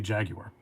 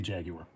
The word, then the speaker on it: Jaguar: I say Jaguar. Because, I mean, it's from their country, and they say Jaguar, so I say it like that.